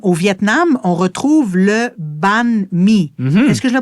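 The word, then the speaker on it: bánh mì: Minh, au Vietnam, on retrouve le banh mi. Est-ce que je le prononce comme il faut? Le banh mi, ouais.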